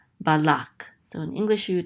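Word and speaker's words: בלק: This is ba, and then the lamed with the kamatz, so this says la, and this kuf closes out this syllable, so it says lak, balak.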